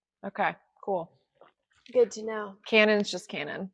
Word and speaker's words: Canon: guess in Japan okay cool good to know Canon's just Canon not Canan Canan Canan yeah Canon Canon you had a